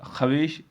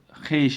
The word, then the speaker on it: خویش: خائی واو یہ شین، اگرچہ تلفظ ہونا چاہیے تھا خویش، لیکن ایسا نہیں ہے، بلکہ اس کا تلفظ خیش ہے، خائی یہ شین، جو